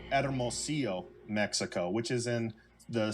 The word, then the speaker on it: Hermosillo: And I said Hermosillo, Mexico, but the way that it's pronounced is Hermosillo, Mexico, which is in the state of Sonora, which is right below Arizona, below Arizona.